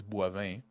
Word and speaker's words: Boivin: Like in my name is Boivin. Bois, it's pretty hard already, and vin, it's almost impossible.